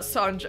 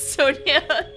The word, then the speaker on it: Sonja: was always like no no no it's not Sanja it's Sonia you turn good white this is a lovely